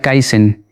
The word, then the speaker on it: kaizen: Porque en Japón existe una palabra antigua, una palabra que se pronuncia kaizen y que se escribe con 2 ideogramas.